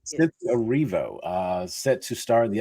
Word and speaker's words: Erivo: Is that how you pronounce her name? Is that correct? Yes. Cynthia Erivo, set to star in the upcoming movie Wicked, which will be in theaters in November.